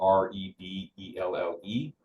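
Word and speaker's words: Rebelle: And so this organization, the Rebel Rally, it's spelled R-E-B-E-L-L-E, Rebel.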